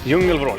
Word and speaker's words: Djungelvrål: Called the Djungelvrål. Djungelvrål. Djungelvrål. Yeah, very good pronunciation.